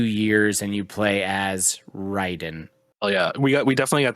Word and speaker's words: Raiden: They say Raiden, so I'm gonna say Raiden is Mortal Kombat. Ryden is this. They're the same word, and they are absolutely spelled the exact same way.